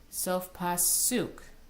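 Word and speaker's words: Sof Pasuk: As each of these trope symbols actually has a name, if you've noticed, they all have the syllable, their accented syllable on the end. Mercha, tipcha, mercha, Sok Pasuk.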